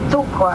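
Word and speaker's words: Cukor: you know George cuer the name of cuer we pronounce it tuor and it means sugar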